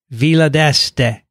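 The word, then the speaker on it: Villa d'Este: those are cool all right kathy let me pronounce it for you vila deste okay sorry we i have gone many years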